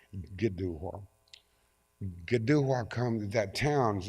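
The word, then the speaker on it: Kituwah: I t u w ah they naturally said ketua and it's actually pronounced gdu gdua come that town's name comes from two words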